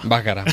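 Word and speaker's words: Baccara: Según José María Íñigo, Bácara. Bácara, vale.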